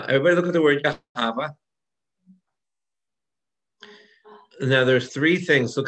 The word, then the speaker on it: Yahweh: When it starts to appear, you can see it's called Yahweh, because in some circles of Judaism, the H is silent. When you look at the word Yahweh, everybody can spell it?